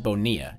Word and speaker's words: Bonilla: Why do they pronounce it Bonilla? Is he Italian? No, actually, he's from New York, but the name has Spanish origins.